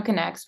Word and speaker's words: Connex: health resources and services you can visit Solano connects which is spelled c-o-n-n-e-x dot org bye thank you so